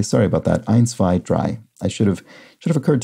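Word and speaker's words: drei: the german word d-r-e-i-43 is a homophone of dry i and ben ward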